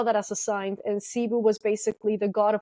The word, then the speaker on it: Sibu: And Sibu, it's spelled Sibo the way that they found it, and all the Sib. Anyway, but it was pronounced Sibu.